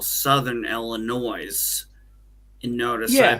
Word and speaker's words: Southern Illinois: in what we call Southern Illinois. And notice I Yeah. put the accent on the S because down in Illinois, that's how we refer to it.